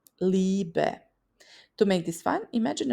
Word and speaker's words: Liebe: IE is pronounced like a long E, Liebe.